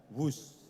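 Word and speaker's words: Whoosh: operasi optimal sistem hebat sekali lagi w h o o s h Tapi bacanya wus kereta cepat Jakarta B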